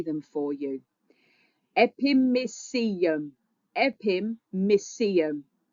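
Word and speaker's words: epimysium: Epimeum. Epime. It rhymes with coliseum. Epimeum. Coliseum.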